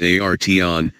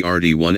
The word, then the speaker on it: Arteon: Phonetically, Volkswagen's new flagship is Arteon. Philosophically, it's art plus 3 letters tagging along for the ride. Think of it as the Arteon and you'll mispronounce it but nail the idea.